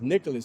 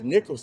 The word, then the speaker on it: Nicholls: I thought it was Nicholas State. I didn't think it was Nicholls State.